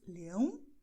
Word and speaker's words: leão: Portanto, nós diremos leão, leões. Leão, leões. O ar sobe para o nariz e ele fica aí no nariz.